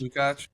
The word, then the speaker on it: Lukács: Lukács.